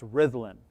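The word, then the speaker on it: Rhuddlan: this village it's called rithlan so in welsh the double d is pronounced like a th and uh while we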